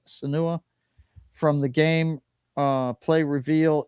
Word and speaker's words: Senua: Can you pronounce it? Senua? Suna. Is it Senua? Okay. Ninja Theory is back with another Hellblade game, except this one is simply called Senua.